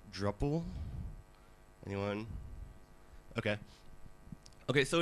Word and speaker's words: Drupal: And so he renames the project to be, as it is today, Drupal. So it's much easier. Of course, we still get people who try to pronounce it like Drupal.